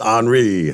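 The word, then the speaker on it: Henri: does that happen Henry yep it looks like Henry but it's HRI HRI more political correctness the hurricane is not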